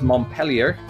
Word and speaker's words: Montpelier: Vermont, it's a French one, but the locals don't pronounce it the French way necessarily. It is Montpelier.